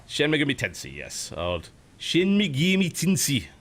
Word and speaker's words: Shin Megami Tensei: I don't even know how you pronounce it. Shin Megami Tensei? Shin Megami Tensei, yes.